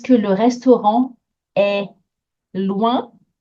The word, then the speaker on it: est: est-ce que le restaurant est loin? There's going to be a lot of temptation to say this word differently. Est. That's it. That's it. It's like the first sound of the word egg.